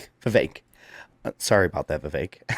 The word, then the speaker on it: Vivek: Cake Man because it's Vivek like cake.